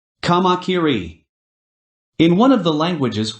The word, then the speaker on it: kamakiri: to pronounce the name kakiri what's that supposed to be I gave a swift reply by first correcting her pronunciation kamakiri in one of the